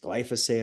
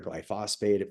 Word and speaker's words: glyphosate: The active ingredient is glyphosate or glyphosate, for those of you who pronounce it differently.